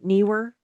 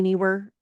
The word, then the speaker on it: Neewer: So this is a really neat little light by uh Neewer. I think that's how you say it. I'm not good at pronouncing company names, but n e e w e r.